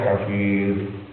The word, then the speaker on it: Hafiz: al-attas sudah baca ya Hafiz ya Hafiz ya Hafiz cara membacanya bukan yafiz yafiz yafiz yafiz yafiz